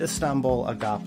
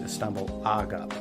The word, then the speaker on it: Istanbul Agop: fusion to indie rock, and that is the Istanbul Agop line. I've also heard it pronounced Istanbul Agop.